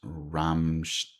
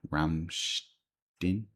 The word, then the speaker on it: Rammstein: It's pronounced Ramstein. I still can't pronounce it. Ramstein. Ramstin. Ramstein. It sounds like an typical German thing.